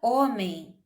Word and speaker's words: homem: Vamos pensar na palavra homem, por exemplo. Sabemos que essa palavra se escreve com H, não é isso? O H na frente, mas esse H não é pronunciado, certo?